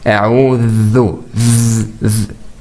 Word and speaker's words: أعوذ: When you pronounce it, you should make the edge of your tongue touch your upper tooth. A'udhu.